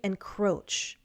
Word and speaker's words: encroach: And finally, encroach. Encroach. Also, the stress is on the second syllable.